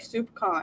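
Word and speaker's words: soupçon: all the time but I wrote it out phonetically because I wanted to pronounce it right and so I spelled it s o u p s a u n but that's not how you spell it you spell it like soupcon and it's my new favorite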